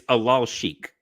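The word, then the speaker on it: Alalshikh: By the way, it's Alal Sheikh.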